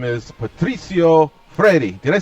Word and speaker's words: Freire: Estava falando aí sobre como é que pronuncia seu sobrenome. It's Freire. Freire, okay.